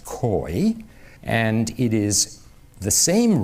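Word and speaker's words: keu: is a stem k-e-u we would spell it k-e-u it's pronounced koi and it is the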